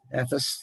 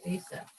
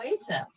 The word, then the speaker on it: Asaph: written by Asaph, whatever the hell you ever pronounce that. Ephes, and he was one of the chief musicians of the Palace of David. Asaph. Oh, Asaph.